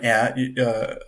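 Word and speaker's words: heir: previous Monarch who chooses an air usually or a hair how do you say that yeah M or not yeah yeah Silent Age uh to um oh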